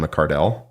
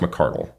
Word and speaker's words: McCardell: And then he said, well, it's actually pronounced McCardle.